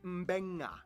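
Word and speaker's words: Beqa: makes the nd sound, B makes the mb sound. Both Q and G make the ng sound. Therefore, the town of Nadi is actually pronounced Nandi. And this word is pronounced Mbenga.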